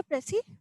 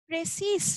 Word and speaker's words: précis: আচ্ছা, যদিও এখানে প্রেসিস লাস্টে একটা এস রয়েছে, কিন্তু আমরা এই এসটার উচ্চারণটা করি না, আমরা বলি প্রেসি। প্রেসিস রাইটিং না, কিন্তু আমরা বলবো প্রেসি writing, not প্রেসিস, ইটস প্রেসি, প্রেসি writing.